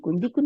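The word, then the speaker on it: دِيكٌ: এর মধ্যে কি বলছে মা হাজা ইহা হাজা দিকুন দিকুন মানে মোরগ ইংলিশে বলে রুস্টার আপনারা ওখানে দেখবেন রুস্টার আর ও এস টি ই আর রুস্টার মোরগ তাহলে হাদা দিকুন ডাল জের ইয়াসুকুন কাফের দুই পেশ দিক দিকুন মানে মোরগ আমরা দেখেই বুঝতে পারতেছি এখানে আসি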